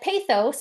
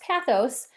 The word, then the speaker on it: pathos: And then we have pathos, or I've also heard it pronounced pathos, which appeals to emotions by highlighting the human impact or community stories.